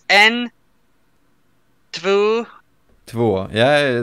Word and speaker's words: två: I know there's some weird pronunciations. It's en. Två.